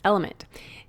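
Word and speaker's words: LMNT: our sponsors El element it's spelled l MNT but pronounced element if you haven't heard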